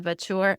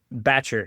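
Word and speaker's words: batture: Can you tell us about the vure? Is that how you pronounce it? Batcher. You just got to get your southern accent out there.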